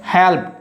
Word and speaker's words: helped: Helped. Here is E is silent.